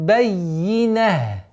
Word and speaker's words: البينة: Хатта та'тияхумул байина. Бай. Удваиваем. Сперва звук я удваиваем, а потом кесру максимально произносим.